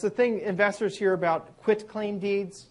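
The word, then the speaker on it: quitclaim deed: There's a thing investors hear about quit claim deeds sometimes mis mispronounced quick claim deed. It's quit like I quit my job claim deed. Quit.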